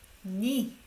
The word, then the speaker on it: 네가: 니. We don't say 네 because it sounds like conflicting with this one, right?